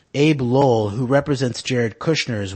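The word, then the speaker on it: Abbe Lowell: Cohen's allegations regarding the Trumps will also include a claim that Ivanka Trump's attorney, Abe Lowell, that's Abe with the 2 B's, I think it's still pronounced Abe Lowell, who represents Jared Kushner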